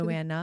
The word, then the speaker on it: Joanna: Chip and Joanne's Chip and Joanne, is that how you say it? Joanna.